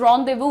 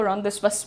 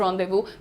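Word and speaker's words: rendezvous: अपॉस्टफी apostrophe pronounce रदबु। इट इज़ रदव। बहुत सारे लोग उसको रदश्वस बोलते हैं। लेकिन इट इज़ रदव।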